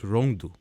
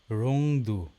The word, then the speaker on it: Rondu: No, it's not a Rondu of Urdu, which means a crybaby. It's pronounced as Rongdu. Rongdu.